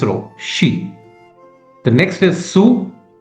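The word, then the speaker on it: つ: The third character is sue. Similar to the S row one su but the spelling is t s u sue.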